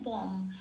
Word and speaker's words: বং: অনুস্বর থাকলে শব্দের শেষে কি উচ্চারণ হয় 4 নম্বরে তালিকাভুক্ত করে দেওয়া আছে, ময় হসন্ত দিয়ে প্রতিস্থাপিত হয়ে যায়। তাহলে এখানে হবে কি, ময় হসন্ত, তাহলে বম। কি বলবো, বং বলবো না, বম, বংটা বাংলায়।